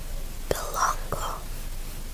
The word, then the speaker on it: Belanglo: Apparently it's pronounced Belongo. Belongo. So L is not pronounced.